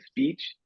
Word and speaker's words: speech: A suggestion is when you're gonna say a word that starts with S, just say the sounds. Speech.